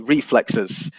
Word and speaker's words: reflexes: So generally your pronunciation was accurate, but the word reflexes, so it should rest on the first, yeah, it should be reflexes. So I think the stress on that was slightly off.